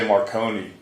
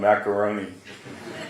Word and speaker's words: Marone: the funny thing is they couldn't say Marone so they added a syllable and they called him macaroni so it's like so